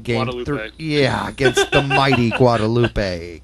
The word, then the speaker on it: Guadalupe: against the mighty Guadalupe guadaloop I think it's just guadaloop as I don't know I've heard it both ways I thinkup sounds better it does I think you could actually pronounce it either way but anyhow